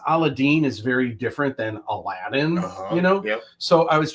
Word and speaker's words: Aladdin: East it's actually pronounced Allah Adin but this doesn't take place in the Middle East all throughout India and Southern Asia they actually pronounce it aladine aladine yeah so most